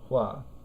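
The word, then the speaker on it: 话: So this is the character that in Chinese is pronounced shuo, and this is the character that in Chinese is pronounced hua.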